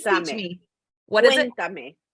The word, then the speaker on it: Cuéntame: Cuéntame. Cuéntame. Cuéntame. So okay. Like cuentos are stories, and me is me. Cuéntame, story me. Oh, I love it. Think about it that way. Yeah, cuéntame.